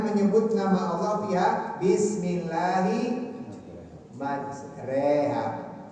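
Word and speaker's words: مَجْرٰىهَا: nama Allah fiha, bismillahi majreha, tulisannya majroha, dibacanya majreha. Ini disebut apa? Imalah ya, imalah ya, disebut imalah.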